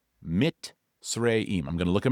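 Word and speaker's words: Mizraim: It's spelled m i z r a i m, but it's actually pronounced m i t and then s r a y mitim.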